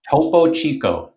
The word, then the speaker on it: Topo Chico: How do I pronounce it? Topo Chico? Topo Chico.